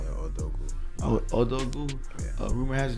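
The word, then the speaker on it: Odogwu: How you pronounce that shit? I call it Odogu.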